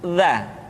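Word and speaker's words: ذ: Selanjutnya huruf za. Diucapkan dengan menyentuhkan ujung lidah dengan dinding dua gigi seri bagian atas seperti kita mengucapkan huruf tha. Ujung lidah boleh ditampakkan ataupun tidak nampak.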